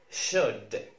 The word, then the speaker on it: should: UL زي كلمة should. should, should اللي معناها يجب أن. should أو ينبغي أن ما نقولش should اسمها should. should.